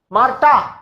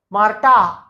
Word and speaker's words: Marta: Marta, why ta? Why not tha? Because H in the middle is silent and A is always A, A is A, and double A is also A. So this is Ma, Marta, not tha.